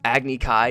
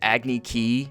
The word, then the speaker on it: Agni Kai: Agni Kai is said Agni Ki.